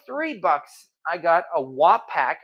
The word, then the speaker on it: Wapak: bucks I got a WAP pack I pronounced it correctly Wapak number 12.